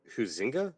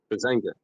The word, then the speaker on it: Huizenga: Lucas, Oklahoma, Pete Sessions, Texas, Bill Huizenga? I can't pronounce his last name. Huizenga.